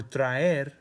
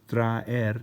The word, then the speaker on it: traer: For traer, remember I told you guys with traer, don't go traer. Make sure you're pronouncing both vowels.